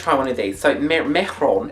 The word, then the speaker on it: Mehron: How do you pronounce it? Mehron.